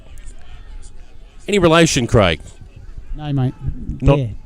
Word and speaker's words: Dare: Dare, not door. Dare. No relation at all, mate. They spell and pronounce their names differently.